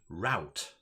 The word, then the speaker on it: route: because yeah i think in the us people pronounce that second word route right um but route is when you go